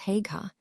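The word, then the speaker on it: Haigha: His name is Hega. He pronounced it so as to rhyme with mayor.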